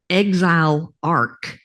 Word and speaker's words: exilarch: And I don't know how to pronounce it, but it's exile arc.